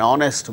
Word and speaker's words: honest: instance who are instance words beginning with a silent hitch in the words our and our and honor an honest man an air an honorable man in all these cases these words begin with H which is a consonant